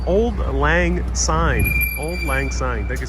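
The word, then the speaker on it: Auld Lang Syne: it's delicious brianne uh brienne says it's pronounced old lang old lang sign old lang sign thank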